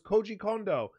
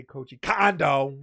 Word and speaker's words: Koji Kondo: Brothers in world 1-1 that was a good pronunciation thank you of them I figured I'm not going to say coaching condo like I would have said that